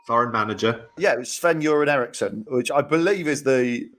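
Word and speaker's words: Sven-Göran Eriksson: manager yeah it was Sven you're an Erickson which I believe is the correct pronunciation you say his name as if it's piss then you're in Ericsson Apparently that is the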